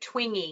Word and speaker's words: Twenge: And pronounces it Twingy. Yes.